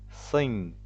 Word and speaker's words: sing: Esse aqui é sing, song. Veja que o G é mudo e você usa apenas o som nasal de N.